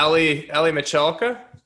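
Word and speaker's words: Aly Michalka: Oh yeah, Ali Michalka. Is that how you pronounce it?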